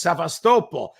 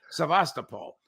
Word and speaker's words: Sevastopol: by the way I I'm not sure there is a correct pronunciation I I call it Sasol but other people call it different things and I think well you know the great great Ray McGovern has corrected me twice and insists it's saastal but when I heard uh um foreign minister lavro pronounced it he he pronounced it he said it the way we do in English sevastopol yeah so sort of